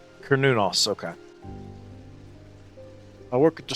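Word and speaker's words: Cernunnos: So, um, oh, by the way, I found I found the correct pronunciation. And by correct, I mean the original Celtic pronunciation. It's Kernunos. Kernunos.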